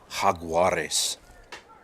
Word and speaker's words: Jaguares: be told it's jaguares if you've got a question on how it's pronounced haguares so that being said